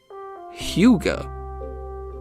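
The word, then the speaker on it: hygge: Let me let me look up how to pronounce this real quick. Huga.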